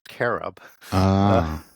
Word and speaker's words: cherub: And when we say cherub, that used to be pronounced k as carob.